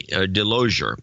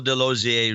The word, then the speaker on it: DeLozier: these rights it is Michael de lo za rhymes with enclosure DeLozier rhymes with enclosure